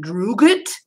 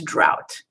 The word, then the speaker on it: drought: Is it drugit? No, it's drought.